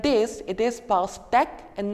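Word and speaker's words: pastèque: becomes a and if it's like e the pronunciation becomes a so here since it's like this it is past act and not pastic just like this I have discussed several aspects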